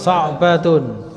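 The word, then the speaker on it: صَعْبَةٌ: Sa'batun. Sama sahlatun, wazannya kan aau, sahlatun, maka sa'batun juga.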